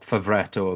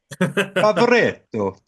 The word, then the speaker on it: Favretto: with your Italian heritage, that pronunciation was crap. You should uh, B minus, do better. Give you a bit more of a flourish there, Rod. Yeah, Zilocci, Favoretto. That's that's it. better. That is better.